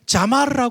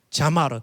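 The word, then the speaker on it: זמר: 악기를 가지고 하는 찬양은 자마르라 그래요. 자마르. 찬양팀만 따라합시다. 자마르.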